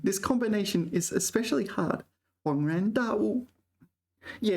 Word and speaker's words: 恍然大悟: I've always thought 恍 was first tone, but it seems it's not first tone. 恍然大悟. Yeah, third tone, second tone. This combination is especially hard. 恍然大悟.